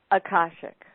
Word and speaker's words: akashic: well how do you say that again akashic akashic okay and lots of people have trouble pronouncing that still uh definitely definitely in the